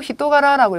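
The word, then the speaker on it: 人柄: 자, 어떻게 카레와 온코나 이 성품이라고 할 때 훈으로 히토가라라고 읽어주시면 돼요.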